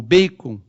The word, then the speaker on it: Bacon: Em Rogério Bacon, ou Bacon, na pronúncia certa, há de ser um daqueles filósofos